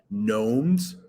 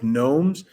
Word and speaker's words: gnomes: It's easy to hide things in plain sight, like gnomes. That G is silent, like gnomes and bird cages and blank.